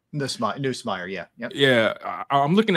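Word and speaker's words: Nussmeier: Am I pronouncing that right? Neusmeyer. Neusmeyer.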